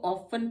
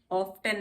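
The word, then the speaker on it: often: Exception कैसे हैं, अब यहाँ पे तो एल, टी से पहले एल नहीं है और एफ है, तब भी हम इसको ऑफन पढ़ते हैं, ऑफ्टन नहीं पढ़ते हैं, ऑफन।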